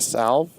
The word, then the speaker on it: salve: A salve? Yeah, it's salve. No. So are we going to start pronouncing it salve because it's the technical correct way to say it? I'm sure you can also say a salve.